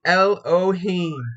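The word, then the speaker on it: אֱלֹהִים: creative he them so the pronunciation is Elohim it is number h430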